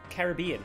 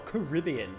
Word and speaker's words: Caribbean: uh florida or the caribbean caribbean or caribbean depending on how you want to pronounce that i don't know much